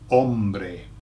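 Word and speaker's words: hombre: got man man okay ombre ombre okay and it sounds like one Brave man ombre man ombre ombre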